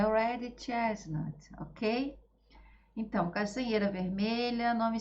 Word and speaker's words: Red Chestnut: A pronúncia é Red Chestnut, ok?